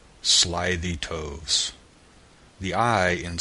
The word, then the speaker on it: toves: how to pronounce slithy toves the eye and slithy as long as in writhe and Toves is pronounced so as to rhyme with groves again the first oh